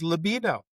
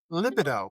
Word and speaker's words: libido: effect on sexual desire, also referred to as libido, or if you're English, libido. I had no idea they pronounced it that way there.